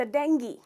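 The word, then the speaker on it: dengue: को भी, पर अफसोस इसका करेक्ट प्रोनाउंसिएशन है डेंगी। तो ग्यू नहीं है, ई साउंड है। ट्राई कीजिए, डेंगी। तो इसमें आप स्ट्रेस करते हैं डेंग पर और कहते हैं डेंगी।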